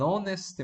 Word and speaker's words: honest: Por exemplo, an honest man. Você não pronuncia, tá? An honest man. Honorable peace. Honorable peace. An hour. Nessas palavrinhas aqui você não pronuncia a letra H.